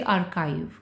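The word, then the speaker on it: archive: ऐसी जगह कहलाती है आर्काइव इसे प्रोनाउंस कीजिए आर्काइव हिंदी में अभिलेख गार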